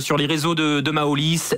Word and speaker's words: Maolis: les réseaux de de maolis M a o l i s tout simplement comme ça se prononce réseaux sociaux donc sur